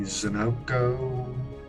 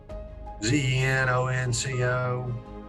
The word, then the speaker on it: ZenOnco: So, you had asked me, said that please pronounce the name of your company, ZenOnco, ZenOnco.